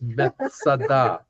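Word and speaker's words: מצדה: In Hebrew, it's pronounced Masada. Masada in Hebrew means a fortress.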